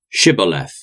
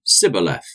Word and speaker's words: Shibboleth: I'm not they would tell him to say Shibboleth if he was from Ephraim he would say Sybil F because people from Ephraim cannot pronounce the word correctly then they would take